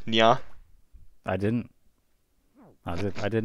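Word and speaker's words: にゃ: Meow is pronounced nya.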